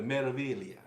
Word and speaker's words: Meraviglia: The Meraviglia. Yes, that's how you pronounce it. I don't understand why they Meraviglia. waste a perfectly good G in there.